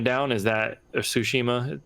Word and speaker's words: Tsushima: probably keeping ghosts of tashima down is that tsushima the t is silent right yeah yeah ushima um is it that